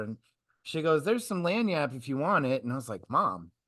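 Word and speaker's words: lagniappe: That Lagnat mentality? Lanyap. Lanyap, pronounced it wrong.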